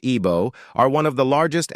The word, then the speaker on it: Igbo: The Igbo people, pronounced Ibo, are one of the largest ethnic groups in Africa, numbering over 30 million.